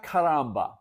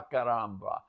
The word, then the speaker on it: caramba: You don't pronounce the R's the way we pronounce R's. The Portuguese R is very different. It's almost like an H.